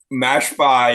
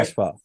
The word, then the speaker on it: Mashpa: yeah, Mashpa, that's how you say it, eh? Mashpa? mash bar, yeah, Mashpa.